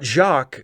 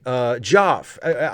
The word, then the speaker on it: Joff: Not Jacques. Joff. But maybe that's who he means. It's the pronunciation is similar.